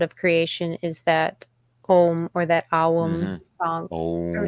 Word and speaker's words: Om: of creation is that om or that album song or song yes but literally a u m would be the pronunciation and the m is